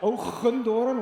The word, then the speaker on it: Hoogendoorn: in Dutch it's spelled Hoogendoorn, which sounds terrible. In the rest of the world we have this really stupid strong G.